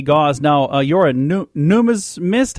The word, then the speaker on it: numismatist: coin collector but well how do you say it properly yeah it's a numismatist I I could have